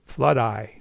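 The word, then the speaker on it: Floodeye: so now it's called flood eye as in rhymes with jedi so this is just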